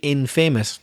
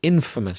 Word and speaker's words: infamous: We don't say infamous, no. We say famous and then we say infamous. Stressing the first syllable.